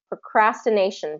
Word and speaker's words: procrastination: okay procrastination okay so that again that stress nay is going to be stressed because it's right before the shun procrastination pronunciation do you see